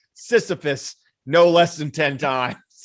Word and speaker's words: Sisyphus: case keith schredler for sitcipus because he is that how you pronounce that maybe i don't know i think no it's it's sisyphus it's not cyprus oh boy then i